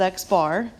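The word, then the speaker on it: x̄: which is notated as an X with a line over top pronounced as X bar is found using the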